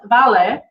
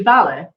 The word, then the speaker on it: vale: guess because i will like i always said vale right it means okay i thought it is vale pronounced vale and it's not it's actually ballet but it sounds like vale like vamos vamos